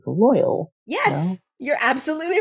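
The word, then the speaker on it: Loial: this must be like loyal yes you're absolutely right that is its name like loyal with a y except with an eye that's exactly who he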